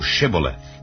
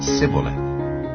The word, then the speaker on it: Shibboleth: If he said, Nay, then said they unto him, Say now Shibboleth. And he said, Sibboleth, for he could not frame to pronounce it right.